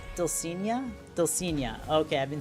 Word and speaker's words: Dulcinea: It is the Dulcina? Dulcinea? Dulcinea.